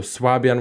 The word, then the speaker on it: Swabian: Fabian or swabian um you in German you would say schwebish yeah but so I mean it belongs to the alemanic dialects so swabian would be an English pronunciation yes swabian okay so